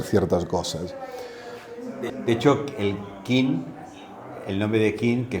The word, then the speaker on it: Qin: Y ponía, aquí pone que el nombre de China en castellano procede de la dinastía Qin, que allí se pronuncia Qin. Y aquí se pronuncia Qin.